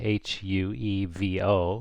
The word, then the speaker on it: huevo: H in Spain is always silent except after a C, then it makes the CH sound, okay? So, for example, the written word here, meaning egg, H-U-E-V-O, it just sounds like huevo. It's totally silent.